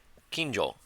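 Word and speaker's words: 近所: How is it pronounced again? Let's see. Kinjo, neighborhood, vicinity.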